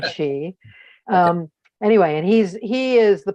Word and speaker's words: Chi: But if you go back and look at our past programs and look for his name, his last name is spelled in English CHI, like Kai, but it's Ed Chi.